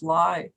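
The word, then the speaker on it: Lie: things i thought was interesting was how jonas lye or lee is how you pronounce it was portrayed on at the table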